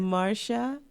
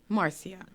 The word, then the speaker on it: Marcia: I think she says it like all one word, And it's the stress on the first syllable. I tend to it's do that. Marcia, but instead of sha, you say sia.